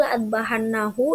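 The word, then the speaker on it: لأاذبحنه: Lalu la'adbahannahu yang di sebelah kiri sudah ada tambahan huruf alif setelah huruf hamzah, tetapi pelafalannya itu tetap sama, tetap la'adbahannahu, tidak ada yang berubah.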